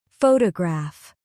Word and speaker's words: photograph: Photograph. Stress on the first syllable.